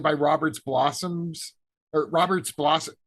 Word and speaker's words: Blossom: Robert's blossoms or Robert's Blossom it's so weird to pronounce his name it's not about blossoms it's Robert's Blossom Blossom who uh was